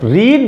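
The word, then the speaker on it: read: तो रीड तो main form होती है, रीड रेड, रेड रीड main form होती है और रेड सेकेंड फॉर्म और रेड ही थर्ड फॉर्म। स्पेलिंग यद्यपि वही है, बस प्रोनंसिएशन में चेंजेज आ जाता है।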